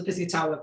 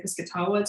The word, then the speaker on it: Piscataway: eastern shore and also the pizzitawa people who are also um referred to as the piscataway i've heard both pronunciations um when i've heard indigenous people say it they say this katawa to my knowledge so